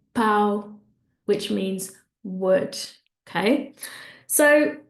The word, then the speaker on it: pau: Another example would be pão, pão, nasal sound, that means bread, or pau, pau, which means wood, okay?